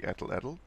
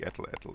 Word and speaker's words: atlatl: Now, another example that, and I love this thing, is called the atlatl. Atlatl, as the Americans say, atlatl.